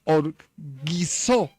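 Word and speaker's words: ὀργίζω: La palabra airados, sin duda alguna, viene del griego que se pronuncia orgizo.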